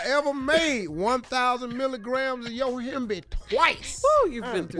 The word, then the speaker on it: Yohimbe: Yohimbe. So happy you pronounced that properly.